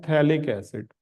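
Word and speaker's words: phthalic acid: ठीक, अब अगर बेंजीन रिंग में 1,2 डाई कार्बोक्सिलिक हो बेंजीन रिंग में, तो इसका नाम है थैलिक एसिड। पीएच साइलेंट रहता है, थैलिक एसिड।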